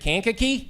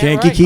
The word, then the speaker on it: Kankakee: And then finally, I'm going to get this one wrong, became general manager at Kankakee. Am I getting that Kankakee. right? All right. Marky gave me a pronunciation lesson beforehand.